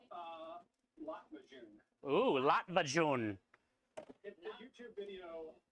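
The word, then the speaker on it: Lahmacun: Lot Majun. Ooh, Latvajun. The YouTube video I looked at about 45 minutes before streaming, but how to pronounce it is accurate. It's Lot Majun.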